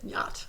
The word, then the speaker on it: yacht: You don't pronounce the ch. Yacht. Am I? You don't? No. Unless you're a German. That's right. I'm not trying to pronounce it. Yacht. Yacht. Think of it as Yo T.